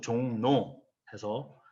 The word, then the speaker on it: 종로: 점 확인하실 수 있죠 그리고 종로 의 경우엔 후 발음 그대로 종로 해서 jeong n 꼭 이렇게 그 길을 합니다 그리고 신라의 경우에는 우리가